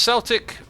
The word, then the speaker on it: Celtic: It's pronounced Celtic with a K.